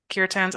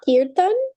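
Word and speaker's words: kirtan: that word wrong um it's like pronounced Kiran but it's a sound that doesn't really exist in English like okay softy like K it can be a little tricky yeah thank you k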